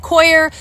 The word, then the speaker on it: Coir: How to pronounce it a few different places, and they all said Coir, so that's what I'm sticking with.